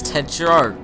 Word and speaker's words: Tetrarch: one Tetrick Ted Oh have I been pronouncing it wrong this whole time Tetrarch it's Ted shark okay from where Ted